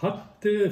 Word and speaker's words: hatte: Ich hatte viel Bekümmernis. Hatte, real double T, Bekümmernis, real double M.